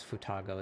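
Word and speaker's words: 双子: Futago is Japanese word read as futago is used to refer to twins.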